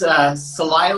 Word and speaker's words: Celaya: How do you pronounce that city's name again? You live It's Celaya, Guanajuato.